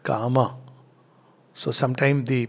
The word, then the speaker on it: Kama: Not Kama, but Kama.